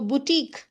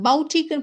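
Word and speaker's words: boutique: அப்போ புட்டீக். இதை எப்படி ப்ரொனவுன்ஸ் பண்ணணும்னா புட்டீக் இந்த பவுட்டிக்னு ப்ரொனவுன்ஸ் பண்ணிடாதீங்க, பொட்டீக்.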